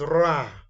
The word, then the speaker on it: ر: And Ra is number 10. Ra comes out when tip of tongue touches the upper hard palate at the front, similar to the English word raw.